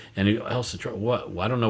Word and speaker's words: El Centro: And he, El Centro, what? Well, I don't know what that is. And then if you pronounce it the right way, El Centro, or so put the accent on the other syllable.